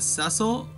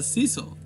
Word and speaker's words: Cecil: everything about it all I know is that sessile which I found out recently is how you pronounce his names whoops I didn't want that